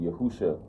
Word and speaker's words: Yahushua: hamashiach right or um well technically you would pronounce it yahusha hamashiach or yahushua that means yahushua the